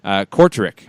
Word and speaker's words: Kortrijk: Belgian and Dutch pronunciations, very, very interesting to me. Kortrijk, I think.